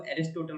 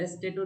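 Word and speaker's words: Aristotle: एक वर्ड मैंने आपसे एरिस्टोटल पूछा था। उसको अरस्तु को एरिस्टोटल बोला जाता है। ठीक है? यस सर। एस्टेटो एक्चुअली एरिस्टेटो क्लियर था बट उसकी स्पेलिंग नहीं क्लियर थी। सर एस्टेटो नहीं है। एिस्टोटलल बोला जाता है उसको हां तो उसको सर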